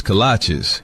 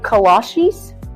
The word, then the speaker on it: kolache: What's a cola, AJ? Oh, cola cheese? Kolache? Kalashis? Kalashi? Like the shoes? No, that can't be right. It's kolache, but it don't matter what